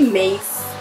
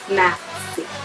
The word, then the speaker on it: Massey: A lot of people get my last name wrong. They say Mace, Messy, what else? There's like a lot more, but it's Massey.